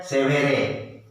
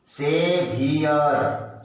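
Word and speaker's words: saviour: कोई कोई इसको बोलता है सेवेरे, सेवेरे नहीं होगा, इंग्लिश का अलग उच्चारण होता है, देखने में लगता है सेवेरे, ये नहीं है, हम इसीलिए तो सीखना है। सेवियर, सेवियर, wear, सेवियर, सेवियर।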